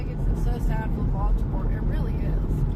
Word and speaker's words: Baltimore: it so sad for Baltimore it really is bomber they call it Baltimore up there in bomber yeah it's Baltimore but they they call it bomber bomber look live up